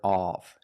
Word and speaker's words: of: The word is pronounced of. The correct pronunciation of this word is of. Use the short sound like cup and up. It's closed, of. And then the V sound like very and van, v. Together, of. At the beginning of the meeting.